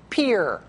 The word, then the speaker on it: Pierre: According to Kathy, the capital of South Dakota is pronounced Pier. Looks like Pierre, but it's Pier.